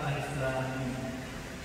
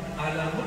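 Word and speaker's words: الم: Dan dibacanya bukan alamun, artinya penyakit, sakit.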